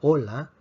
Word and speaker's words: hola: Por lo tanto, si tenemos una palabra como hola con H, decimos hola, la H no se pronuncia.